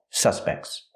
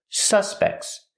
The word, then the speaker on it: suspect: so they're called suspects so if it's a noun the dress is on the first syllable that's right if it's a noun the dress is on the first syllable suspects these people are suspects